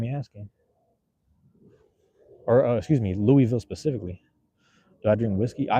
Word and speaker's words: Louisville: Am I saying that correct? Hey, there's a right way. You guys say it right and wrong way. Louisville. Nobody says Louisville. Louisville. That's what somebody said one time. They said, "Don't say no Louisville. It's Louisville."